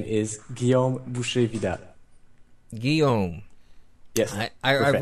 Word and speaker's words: Guillaume Boucher-Vidal: everybody can understand all right my name is Gom yes I I I've written that down